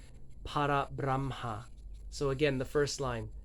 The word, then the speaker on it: Parabramha: Parabramha. I tend to roll my R's. Parabramha. So again, the first line. Sat, Chit, Ananda. Parabramha.